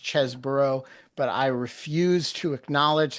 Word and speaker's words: Chesebro: Anna, it has been a long time since we have discussed the big cheese, Kenneth Chesebro himself, and I know his name is pronounced Chesebro, but I refuse to acknowledge that reality.